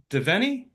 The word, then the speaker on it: Devenny: My name's Devenny. Yep, got the pronunciation right.